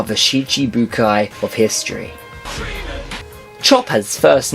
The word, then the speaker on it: Chopper: Chopper, contrary to popular belief, is meant to be pronounced Chopper, like an English cockney for added comedic effect.